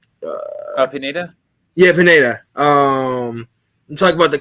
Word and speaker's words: Pineda: If you can say his name, the coach's name is it Bedenia? Pineda.